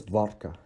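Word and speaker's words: водка: But beware that it is not g. It is g, vodka, not vodka, right?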